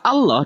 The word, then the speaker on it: Allah: Di sini kata Allah dibaca sebagai tafhim, yang berarti tebal.